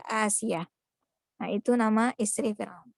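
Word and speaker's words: آسية: Aisyah, Asia ini namanya bisa terbalik ya, jangan sampai terbalik membacanya. Aisyah dan Asyah. Aisyah dan Asia. Asia tulisannya itu alif yang pakai bendera ya. Alif pakai bendera, sin, ya dan ta marbuthah ya, Asia.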